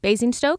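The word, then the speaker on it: Basingstoke: being buried alive in basing Stoke England in 1674 have I said that right basing Stoke yeah basing Stoke that sounds right to me great what did you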